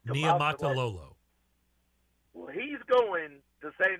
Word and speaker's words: Niumatalolo: is former Navy coach Ken Talamatu. Is that the way you say his name? Ken He is going. Niumatalolo. Go ahead. Ken Niumatalolo.